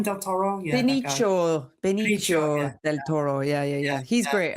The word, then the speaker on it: Benicio: Bennett, how have we pronounced his first name? Del Toro? Yeah. Benicio del Toro.